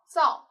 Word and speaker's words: 噪: 那这个字读作噪，噪声的噪，也是聒噪的噪。